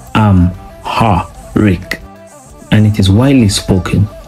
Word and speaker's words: Amharic: Their language is Amharic, which is pronounced Am-ha-rik, and it is widely spoken in Ethiopia today.